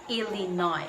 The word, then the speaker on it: Illinois: bit of pronunciation exercise illinois should be pronounced as silent s so what nothing sabihina illinois but illinois so chicago chicago is